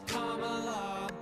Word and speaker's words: Kamala: to for be some Kamala. confusion about this. Let me clear this up right now. Her name is Kamala. Hey. It's not Kamala, no, her name is Kamala. Emphasize the first syllable, it's Kamala.